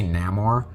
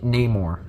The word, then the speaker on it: Namor: how to say his name properly they say Namor which Namor sounds really alien if I'm being honest it'd be like Namor it's just nay like n a more but